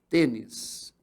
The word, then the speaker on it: tênis: eu divido assim, ó, tênis. Observem que a sílaba forte é essa aqui, ó. Ela não é mais a última. Ela é a segunda de trás para frente. Ou ela é a penúltima.